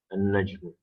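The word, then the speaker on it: النجم: ad-dik, for example, here an-najm. Here you see, even though alif lam is there, while you pronounce it, you say an-najm, that you drop alif lam.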